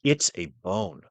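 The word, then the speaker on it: עִצָּבוֹן: back and check it again because I'm like it's a bone that's how it's pronounced iTab bone and it refers to both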